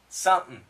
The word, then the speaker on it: something: S-U-M-P-N. Something. Something. I think I might do something. I think I might do something. That's exactly what he said. Something. Something. Something that's... If you don't know this pronunciation, go back to DD119. Now, once again, something. Now, it ends in an N sound, and this N can cancel the TH.